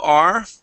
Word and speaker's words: returned: uh Ur returned okay the UR here is an IR sound instead of return return uh how are you saying it uh tone toned you're you're adding a an extra sound in there we want to go straight to that Ur returned return okay good and